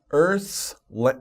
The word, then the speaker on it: earth's: let's begin earth's earth's that's a little hymduro to pronounce right earth so you stick your tongue out between your your teeth earth earth and then you slowly bring it back in to make the s sound earth's earth i'm sorry